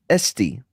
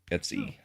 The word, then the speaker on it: Etsy: into a jar and sell it on uh Estie. How do you say Etsy? Etsy.